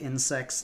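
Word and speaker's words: InSeXts: exists is insects uh it's pronounced like insects like bugs but spelled i-n-s-e-x-t-s um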